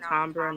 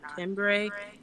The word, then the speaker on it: Tombra: It's pronounced Tombra, not Timbre. It is the French pronunciation, September.